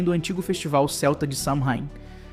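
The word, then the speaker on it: Samhain: antigo festival Celta de Sheim. Se escreve Samheimin, mas se pronuncia só um.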